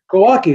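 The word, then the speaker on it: Głowacki: Glowacki, yeah.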